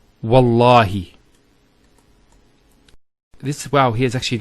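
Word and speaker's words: والله: it, and we say, Wallahi. This waw here is actually known as waw al-qasm, the waw of swearing an oath. So when we put this waw, it's Wallahi, not Wa'allahi. So by Allah, I swear by Allah.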